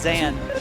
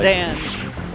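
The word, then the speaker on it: Zain: just American English speaker, to look at Z-A-I-N and say that's pronounced Zan. Right. Yeah, exactly. Zan.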